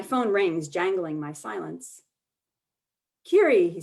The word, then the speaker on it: Kerry: sort yourself that fast kiri americans sound my name with hard r's a long y and the stress on the second syllable kerry kerry a clunky mechanical shift in gear but here and now kiri in a soft and lilting song a cardinals clear double stressed twitter kiri kiri i travel light i